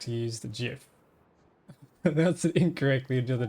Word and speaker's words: GIF: creator of the GIF format has consistently stated that it should be pronounced with a soft G as in GIF.